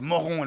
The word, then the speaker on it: Moron: j'ai dû passer par Moron Village. C'est étonnant. Je suppose que c'est Moron ? Ça se prononce en effet Moron en français et Moron village.